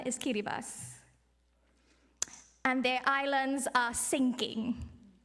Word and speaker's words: Kiribati: You might see it spelled as Kiribati, but the proper pronunciation is Kiribati.